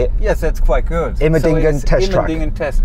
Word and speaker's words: Immendingen: Immendingen so test track.